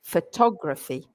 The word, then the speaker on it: photography: if anybody's noticed, but I say photo, but I say photography. And this is a bit of a minefield for pronunciation. So let's start with that, shall we, Craig? Yeah, because the stress changes. And when you're learning English, you want to make sure that you're stressing the right syllable.